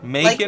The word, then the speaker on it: Macon: Is it Macon or Macon? Macon? Like bacon. Okay. Yeah. Just like bacon.